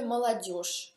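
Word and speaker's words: молодёжь: O può essere anche молодежь, cioè la gioventù, молодежь. Anche qui bisogna stare attenti perché si scrive молодежь con G, ma si pronuncia молодежь con SCE.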